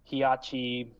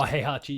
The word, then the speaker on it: Heihachi: I have no care for Hiyachi Mishima from Tekken. I don't even remember how to pronounce his name. Oh, Heihachi, yeah, right.